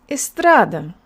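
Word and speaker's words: эстрада: Read it all together and make sure that the middle syllable is longer. Estrada.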